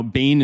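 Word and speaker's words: Bain: can Google Bane media elements of value now Bane is spelled b a i NE Bane media elements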